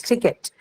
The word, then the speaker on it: ticket: Hence, ticket, the first in the word ticket is aspirated. So it's ticket.